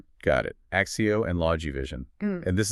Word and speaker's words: ACCEO: It's written in all caps, ACCEO, but just so we're clear, it's pronounced Axio, Axe EO, right? And if we mention Logivision, that's Logi Vision. Log Vien. Got it. Axio and Logi Vision.